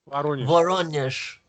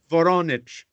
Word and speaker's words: Voronezh: Is it pronounced Voronezh? Voronezh. Voronezh.